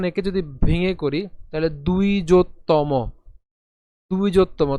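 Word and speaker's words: দ্বিজোত্তম: এর মতই হবে কিন্তু এখানে যে অন্তস্থ ব রয়েছে তার উচ্চারণ কার মত হবে উ এর মত হবে ঠিক আছে তাহলে এখানে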